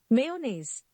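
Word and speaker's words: mayonnaise: इट एम चनीज मेनेज what it actually is मेयोनेज़ मेयोनेज़ नाउ we have you मे be pronounce it Manu what it actually is menu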